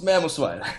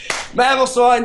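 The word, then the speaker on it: Mamoswine: Come to Papa Mamos Mamos. I pronounced that wrong. Mamosine that priority ice shard stealth fox setter.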